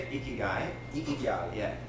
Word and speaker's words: ikigai: Ikigai.